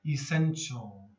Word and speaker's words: essential: remainder remainder essential essential again watch the t sound okay it's not here's another one okay essential divide divide major major